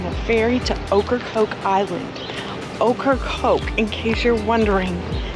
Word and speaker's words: Ocracoke: Ocracoke, in case you're wondering, is spelled okra and coke put together. But if you had a piece of okra. No, it's okra with a C.